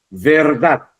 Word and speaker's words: verdad: Verdad es una palabra aguda, termina en D, pero la sílaba tónica es la última, verdad. Porque usted no va a decir, es verdad, ¿no? No va a decir es verdad, es verdad. Se escucha más el énfasis, la mayor fuerza de voz en la última sílaba que sería la sílaba da.